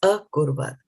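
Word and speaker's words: अकुर्वत: So this pipe is actually then belongs to the next part of this word. So what does this pipe indicate? It's a, right? Right? In the cha is cha halant plus a. So here, the when it gets combined with the kurvat, it becomes a kurvat.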